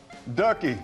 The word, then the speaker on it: Dooky: here we all say we're all saying dookie up here and we know we got it wrong give us the pronunciation the proper way ducky so this is dookie